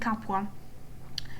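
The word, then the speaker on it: Capua: um we are talking about I will be using the Italian pronunciation which um is the original one and I think it's the most authentic one. So we're talking about Veo, Tarquinia, Kum and Capwa.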